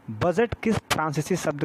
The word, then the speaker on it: bougette: तो पता होगा कि आज जो हम ये बजट लिखते हैं, ये फ्रांसीसी शब्द जो है उसका नाम था बूजे। बूजे, हालांकि उसे स्पेलिंग जो लिखते हैं इंग्लिश में वो होता है BOUGETTE।